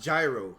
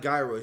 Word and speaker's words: gyro: Cairo gyro excuse me it's pronounced gyro normally it's not guy Roy gyro I think I hope I'm not mistaken right now you are